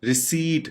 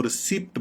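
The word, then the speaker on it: receipt: हम इसको गलत प्रोनाउंस आमतौर पे कर जाते हैं, जिसको हम इस तरीके से प्रोनाउंस करना चाहिए रिसीट, जबकि इसकी गलत प्रोनाउंसिएशन जो बोली जाती है वो रिसिप्ट बोली जाती है, जो कि बड़ी ही सुनने में मज़का खेज लगती है।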